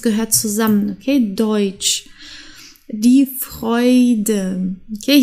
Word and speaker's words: Freude: zusammen okay Deutsch die Freude okay hier haben wir ein R und danach ein Vokal deswegen wird das R aus dem Hals ausgesprochen die Freude die Leute heute okay das